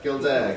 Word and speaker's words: Gildea: Gildea, thank you.